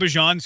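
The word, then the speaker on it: Bijan: No, I mean I just think Bejon's kind of modest and like I just said it wrong. Bjon. I think Bjon's kind of modest and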